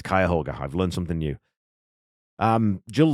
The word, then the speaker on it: Cuyahoga: So there we go, it's Cuyahoga.